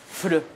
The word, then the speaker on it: FLR: Je veux dire, FLR, ça se prononce comment? Fleur.